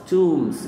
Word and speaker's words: tombs: مقابر النبلاء تومز. البي ما بتتنطقش عشان جت بعد إن فتقولوا تومز أوف ذا نوبلز.